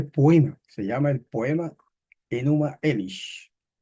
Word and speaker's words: Enuma Elish: se llama el poema enuma elish no sabemos si esa es la acentuación correcta pero más o menos se pronuncia así Bueno pues vamos a